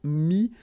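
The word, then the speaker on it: mis: Mi, same advice here, don't pronounce the final S like we had here. T is not pronounced, S is not pronounced. Mi, mettre, to put, and then prendre.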